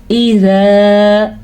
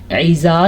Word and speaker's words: اذا: اذا یہاں پہ حمزہ کا دھیان رکھنا ہے آپ نے، ایزا نہیں کرنا آپ نے. اذا زال نرمی سے پڑھا جاتا ہے.